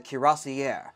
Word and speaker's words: cuirassiers: the Napoleonic Wars, the Cuirassiers, or as I've also heard it pronounced as Cuirassier, depending largely on exactly how French you want to get when you talk about